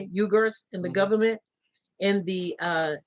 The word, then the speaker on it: Uyghurs: That's how you say it, Uyghurs and the government.